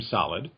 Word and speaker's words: Soliddd: We pronounce our name Solid. You don't have to say Soliddd.